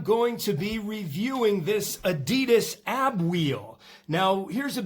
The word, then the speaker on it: adidas: Today I'm going to be reviewing this Adidas ab wheel. Now here's a bit of bar trivia for you. Actually Adidas is pronounced adidas.